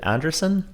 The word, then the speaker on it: Andresen: Peloton tread coach Marina Andresen. Is it Andresen? Andresen, yeah. Andresen. I guess it's pronounced. Andresen.